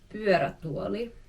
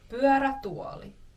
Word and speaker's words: pyörätuoli: Next word is Pyörätuoli. That's a bit of a tough mouthful. But that is a wheelchair. Pyörä means wheel. Tuoli is chair. Wheelchair. Direct translation. How fun. Pyörätuoli. Pyörätuoli.